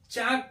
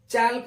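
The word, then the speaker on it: chalk: M palm पढ़ते हैं सी एच ए एल के चाक पढ़ते हैं चालक नहीं पढ़ते ऐसे ही वाई ओ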